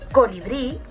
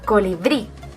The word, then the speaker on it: colibrí: Por ejemplo, la palabra colibrí, si nos damos cuenta, lleva el golpe de voz en la última sílaba, colibrí, y además acaba en vocal, por lo que estaríamos en este primer ejemplo.